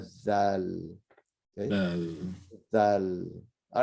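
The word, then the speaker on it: ذال: They can never pronounce it right because they're so used to saying za, that, and it's not za, which is a z, right? It's a zal.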